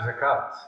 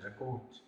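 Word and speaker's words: زكاة: top of the "Waw" Note that it is uttered by “A” sound "Hayat and Zakat" it is not uttered "Hayot and Zakot". Note that "Hayot and Zakot". are Aramaic pronunciation. and not in Arabic.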